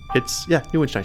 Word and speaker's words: Neuenstein: We can't tell you how many people have mispronounced it. Say it again, my dear. Neuenstein. Neuenstein. Neuenstein. She said it right. It's German, and it literally is